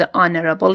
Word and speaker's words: honorable: اما چون اولین صدایی که در هنگام تلفظ honorable شنیده میشه آ هست به عنوان یک vowel، این کلمه جز استثناءاتی است که